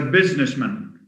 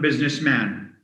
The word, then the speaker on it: businessman: he works as a businessman not businessman so man has a weak form which is plus a schwa not an air as